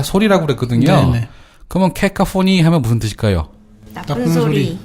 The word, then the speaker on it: caco-: CACO. 케카, 이렇게 발음합니다.